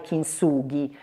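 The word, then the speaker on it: kintsugi: legata al kingsuji che in realtà si dovrebbe pronunciare King sughi Però noi lo leggiamo chi insugi in italiano e quindi chi insugi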